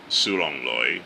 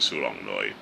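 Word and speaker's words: 小龍女: So, she did a fantastic job in playing Siu Long Lui or Xiao Long Nu or I should say I'm just going to use the Cantonese pronunciation Siu Long Lui with opposite Andy Lau who plays Yeung Gor.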